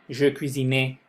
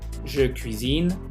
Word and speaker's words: je cuisine: Entonces muchas veces me dicen je parlais, je cuisinais, je étudiais, y no se pronuncia esa última E. Je parle, je cuisine, j'étudie. No me pronuncian esa E, ¿ok?